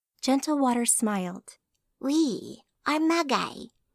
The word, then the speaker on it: Magi: water smiled we are magy pronouncing the last word with a hard G so it sounded like ma guy we Amanda asked that's